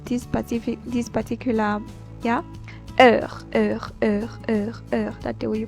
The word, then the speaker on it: heure: So only time, I'll pronounce this particular, yeah, heure, that's the way you pronounce it.